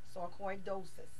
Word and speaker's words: sarcoidosis: c o i d o s i s sarcoidosis is how you pronounce it and it is a disease that